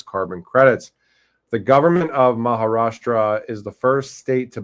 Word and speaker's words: Maharashtra: So hashgraph group and government of Maharashtra Maharashtra I said it right to build India's first